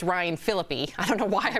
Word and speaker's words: Ryan Phillippe: Also, it's Ryan Phillippe. I don't know why I mispronounced it.